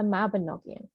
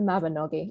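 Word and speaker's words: Mabinogion: of core sources we're looking at the mabinogian which is actually pronounced the mabanoggi i'm sorry welsh people and this is a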